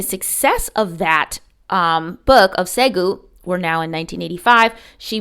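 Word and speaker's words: Ségou: It's called Segu. Again, I might be mispronouncing it, and it's actually S-E-G-O-U in French and S-E-G-U in English.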